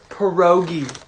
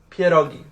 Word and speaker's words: pierogi: person's culture pierogi and you guys also have the audacity to pronounce it pierogi it's pierogi say it with me